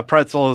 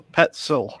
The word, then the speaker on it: Petzl: absolutely okay yeah yeah pretzel is like the thing that i keep trying to pronounce it as but dave pretzel you know petzl petzl no pretzel that's a pet sill how it's pretzel pet